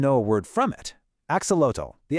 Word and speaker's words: axolotl: You might even know a word from it, axolotl, the axolotl. But fun fact, you're probably saying it wrong. That TL sound is actually a soft T. It's more like axolot.